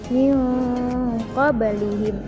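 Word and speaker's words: مِن قَبْلِهِم: Lalu pada kalimat min qablihim ada nun mati bertemu dengan qaf, termasuk hukum bacaan ikhfa hakiki. Cara membacanya dengan disamarkan min qablihim.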